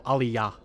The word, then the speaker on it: aliyah: Wait, just more emphasis on the final syllable, aliyah.